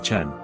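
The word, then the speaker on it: Jean: se va a aubernia la pronunciación local convierte a yan en Chan se llama Chan maé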